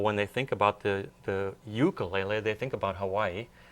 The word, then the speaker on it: ukulele: You pronounce it ukulele. Right. In Hawaii, they pronounce it ukulele. That's right. Ukulele. Yep. Yeah. Even though there's a lot of Hawaiians that pronounce it ukulele, so Right. it's actually okay.